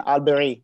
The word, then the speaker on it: Alberi: So Alberi, I'm sorry if the pronunciation is not the right one. Is that the correct one, Alberi? No, you are pronouncing better than Albanians.